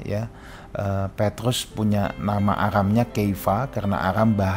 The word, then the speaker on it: Kefa: Petrus punya nama Aramnya Keifa karena Aram bahasa sehari-hari. Nah, Keiva ini pengucapan Keifa kalau dihelenisasikan kayak Shimeon jadi eh Simon dalam Inggris ya kira-kira gitu. Nah, ini kalau dihelenisasikan jadi kevas.